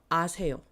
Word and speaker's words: 아세요: It's gonna be ah. 아세요. 영어 할 줄 아세요? Ha would be if it had like a little dot and line above the O.